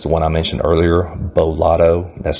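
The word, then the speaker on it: Beau Lotto: of them is the one i mentioned earlier bo lotto that's spelled b-e-a-u his last name is lotto l-o-t-t-o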